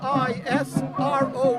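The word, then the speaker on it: Yisroel: God of that's y i s r o e l doid is d o v i d wi is w e i SS ISRO is the Hebrew pronunciation of Israel they stole my name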